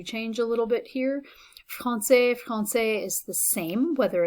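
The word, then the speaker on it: français: women and girls and finally francais this the pronunciations do change a little bit here francais francais is the same whether it's masculine singular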